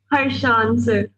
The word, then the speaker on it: Harshan: हाँ जी हाँ जी, अरे शान नहीं, शान, हर्षान, हर्षान, ओके सर। HARSHAN, हर्षान। उसको बोलेंगे तो शान ही ना, ईशान अलग है यार। HARSHAN। अब इसको क्या प्रोनाउंसिएशन होगी, अमरवीर बताओ, हैं? हर्षान सर।